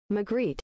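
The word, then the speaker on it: Magritte: Margaret, I'm going to use an American pronunciation. America McGreet.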